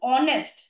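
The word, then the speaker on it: honest: না বসবে না বসবে যেখানেই আমাদের এইটা সাইলেন্ট থাকবে যেমন অনেস্ট এটা কিন্তু আমরা হনেস্ট বলি না বলি কি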